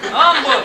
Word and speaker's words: Humble: money came from it came from Umble pronounced MBL Umble Tex in 1931 in 19